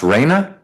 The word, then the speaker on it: Raina: State versus, is it pronounced Raina? Yes.